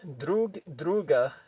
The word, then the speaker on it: друг друга: So basically, drug, druga is how you say each other.